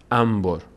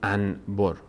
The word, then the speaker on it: انبر: سیم این‌ها استفاده می‌کنن انبر نمیگیم انبر انبر میگیم نون به وقتی پشت سرم بیاد میم تلفظ میشه عین همین قاعده در